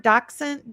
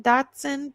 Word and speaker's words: dachshund: dachshund dachshund dachshund Okay, that's what he is.